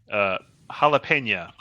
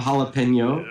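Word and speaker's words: jalapeño: Jalapena. Yeah. I assume that was an artistic decision to rhyme with the previous word instead of jalapeno.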